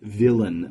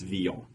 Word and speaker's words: Villon: His last name is spelled Villon, so to us English speakers, it looks like we should say it Villon, but it's Villon.